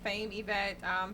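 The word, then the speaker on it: Faim Evette: My social media is Fame Yvette. Fame is spelled FAIM, EVETTE. Yvette without a Y.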